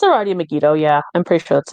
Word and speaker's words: Megido: actually don't know who to pronounce it's already megido yeah I'm pretty sure that's it megido or Mido because I said m mego mego okay yes one OU megone your name is megido you once had us a number of interests